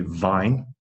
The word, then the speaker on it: vine: So, problem is, when you are speaking Thai, often you will say w instead of v. You can see how if you say it wrong, people will not understand what you are saying. If you cannot say vine, people will think you mean wine.